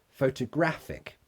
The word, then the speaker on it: photographic: How do you pronounce photography and photographic? Great question. Photography. So the stress is on to. Photography. The second one, photographic. Graphic. So the stress is on gra. Photographic.